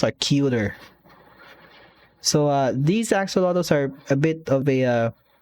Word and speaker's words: axolotl: they announced these are really cute axolotls yes axolotls that's how you pronounce them so these are really ah statistic